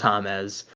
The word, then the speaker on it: James: posts comparing thomas rodriguez which is spelt as if it's james but it's it's hames because he's colombian and then lebron james